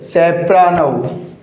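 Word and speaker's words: soprano: और एक वर्ड, ये जो वर्ड है रहना लिख दिया गया, सैप रैनो, सैप रानो, सोप्रानो नहीं होगा साथियों, इसका प्रोनाउंसिएशन क्या नहीं होगा, सोप्रानो नहीं होगा, इसका प्रोनाउंसिएशन क्या होगा, सेप्रानो, सेप्रानो।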